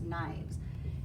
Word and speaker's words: knives: becomes Loaves and lastly our knife which becomes knives and yes um we'll be covering that rule